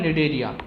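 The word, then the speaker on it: Cnidaria: Okay, आगे देखते हैं फाइलम निडेरिया, यहाँ पे सी साइलेंट है, ठीक है।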